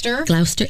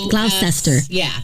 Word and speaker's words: Gloucester: 25 Cromwell Street and this was in glower Glouster England it's in England yeah so that's the